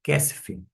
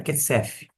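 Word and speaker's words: כסף: dages, sem aquele pontinho, vai ter um som de f de faca. dinheiro Kessf, não é KF, KF e assim por diante.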